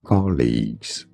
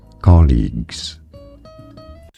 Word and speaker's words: colleagues: study by some colleagues colleagues Co leagues stress on the first syllable British and American pronunciation are similar colleagues cuz I know you